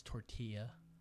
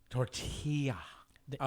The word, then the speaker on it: tortilla: say excuse me sir it's tortilla you gotta make the Y sound tortilla yeah no I don't